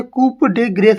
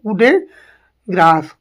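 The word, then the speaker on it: coup de grâce: अंतिम प्रहार मृत्यु प्रहार उसे कुप डेग्रेस नहीं बोलेंगे इसे क्या बोलेंगे कु ग्रास कुड ग्रास नेक्स्ट है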